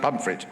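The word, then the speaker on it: Pontefract: South Yorkshire that's like ptif frct but yes pronounced pumpit right okay pum cakes um and uh but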